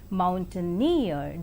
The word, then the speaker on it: mountaineer: in the three syllable word Mountaineer the last syllable is more prominent and you must ask